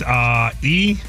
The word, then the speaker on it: EUHOMY: So the brand is EUHOMY. That's how you spell it.